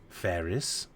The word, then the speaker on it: Ferrus: You want to spell that for me, Doctor? Sure. FERRUS. Ferris.